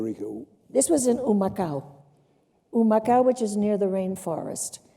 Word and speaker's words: Humacao: Humacao, which is near the rainforest. Humacao begins with an H, which is silent in Spanish.